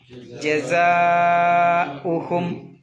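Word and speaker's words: جَزَاؤُهُمْ: ജസാഉഹും ജസാഉഹും. ഉ പ്രത്യേകം ശ്രദ്ധിക്കണം, അത് ഉച്ചരിക്കണം എന്നാ. പിന്നെ ജസാവും എന്നൊന്നും പറയാൻ പാടില്ല എന്നാ.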